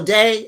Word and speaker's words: Dei: Oh, Dei is pronounced Day.